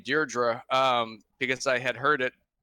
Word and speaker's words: Deirdre: up yeah that's supposed to be the correct pronunciation for that region is Dierdre hello we were talking with the oh you